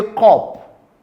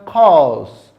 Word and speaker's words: cupboard: Even when you see this, many of us say cup, cup. But the word is pronounced cause, cause, because the p sound is silent.